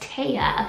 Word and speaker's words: Tea: The next name I have for you is T-E-A, which is pronounced Taya.